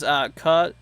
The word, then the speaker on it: Catawba: Lucy says Catawba. Oh, okay. My help with the pronunciation.